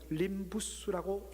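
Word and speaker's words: limbus: 이 LIMBO, 림보라는 이 단어는요, 라틴어에서 그대로 따왔는데 라틴어로는 림부스라고 읽습니다.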